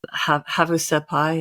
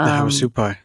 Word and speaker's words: Havasupai: indigenous people, like the Havasupai. Is that how you pronounce them? The Havasupai. Yep. Havasupai.